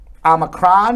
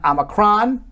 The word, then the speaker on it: omicron: jill so omicron uh which can be pronounced both omicron and omicron sounds like the same to me according to the very